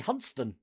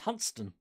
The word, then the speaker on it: Hunstanton: But like in Norfolk, even Hunstanton apparently we've all been pronouncing wrong. It's supposed to be Hunston. Hunstanton is Hunston.